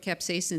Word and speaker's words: capsaicin: And the one that I always like, but I can't pronounce it very well, Tony, is capsaicin, right?